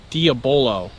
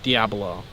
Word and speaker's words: diabolo: me on the pronunciation this is diabolo not Diablo Oh and before I